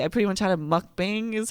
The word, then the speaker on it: mukbang: I pretty much had a mukbang, is how you pronounce it, by myself, listening to Carrie Underwood sing the sad love songs.